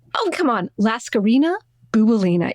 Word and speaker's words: Bouboulina: Laskarina Boubolina. It rhymes. I say Laskarina, you say Bouboulina.